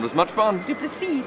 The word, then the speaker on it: du Plessis: You need to leave off the S on the end. Faf. So Faf du Plessis. Du Plessis. No, it's not as much fun. Du Plessis, like a C.